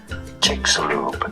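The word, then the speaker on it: Chicxulub: buried underneath the yucatan peninsula how do you pronounce it chicks lube chick soup loop jigsaw crater and mexico chicks loop and now you know it all yes we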